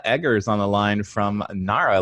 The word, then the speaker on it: Nara: a big one we we get narrow all the time that we do pronounced at Nara and we also get